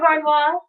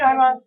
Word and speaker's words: Harnois: Harnois. Did I pronounce that right? Yes, you did. Okay, Harnois.